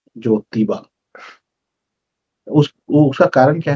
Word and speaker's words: ज्योतिबा: ज्योतिबा, ज्योति मतलब वो लाइट वाला ज्योति नहीं, जोतने वाला ज्योति ना, ज्योतिबा, नॉट ज्योतिबा नहीं है। तो प्रोनाउंसिएशन देखिए कि हम हमेशा उच्चारण में आधा ज यो फिर ती, वो ज्योति नहीं है ये। पूरा ज ओ की मात्रा ती बा, ज्योतिबा।